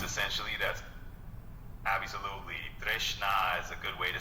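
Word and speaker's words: tṛṣṇā: So that will be pronounced as Trishna. Trishna. It's essentially that's absolutely. Trishna is a good way to say it, and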